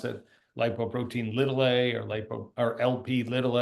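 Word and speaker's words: lipoprotein(a): word light Bo protein lower Casa but we pronounce it lipoprotein ltil a or lipo or LP ltil a it needs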